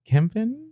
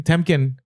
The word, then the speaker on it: Temkin: Like, what was awesome about the VP, Harry Kempen? Did I say his name? Temkin. Yeah.